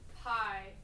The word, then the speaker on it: pi: So obviously So it's like, why is it then that we pronounce pi as pi and then phi is phi? Is that just like an inconsistency? it's an inconsistency. Yes, that's why I said even before we should call it p.